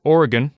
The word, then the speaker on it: Oregon: It's believed that Oregon, which is pronounced Oregon, generally was at one point more often called Oregon, but it got schwaified.